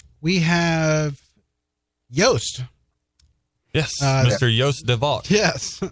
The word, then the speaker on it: Joost de Valk: Joost de Valk. Yes. Are we pronouncing that right? Joost de Valk? You're actually pretty good for an American.